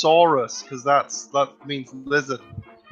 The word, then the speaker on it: Soros: he's behind now obviously his name is actually pronounced sorus cuz that's that means